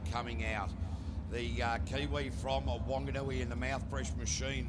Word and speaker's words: Whanganui: the Nissan twin turbo now if we're going to say it correctly apparently because there's an H added to it now it's whanganui no no no it's wanganui isn't it yeah I disagree they